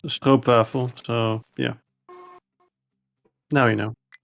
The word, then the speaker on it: stroopwafel: Yeah, it's stroopwafel, so yeah. Now you know. Yeah, thanks. I think I used to pronounce it stoop.